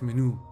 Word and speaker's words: menú: dice menudo menjo bueno la pronunciación correcta es menú pero no lo digas